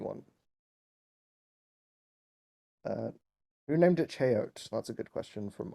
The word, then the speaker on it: Cheyote: It's I pronounce it Cheyote. I know that's not how the plant is pronounced. That's just I've chosen that pronunciation. Deal with it.